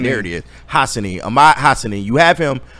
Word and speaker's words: Hassanein: Ahmad Hassanein. There it is. Hassanein.